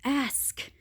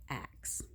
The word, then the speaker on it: ask: like no it's ask it's ask you know and and I don't care if you're white black or Asian I'm gonna be upset that you say axe because I know you know how to spell it every very few people spell it the way that they're saying it when they say axe anyway beyond that I'm